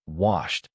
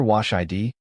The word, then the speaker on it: washed: Wash ends with SH, which is voiceless. The past form finishes with t, so say washed with one syllable. If you hear wash id, stop and remove the extra vowel. The final consonant is enough to complete the past tense.